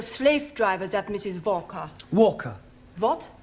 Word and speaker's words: Walker: Walker. What? W is pronounced W. Your employer's name is Walker.